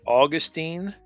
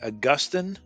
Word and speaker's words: Augustine: you a little poem you can pronounce it Augustine or you can say Augustine but either way you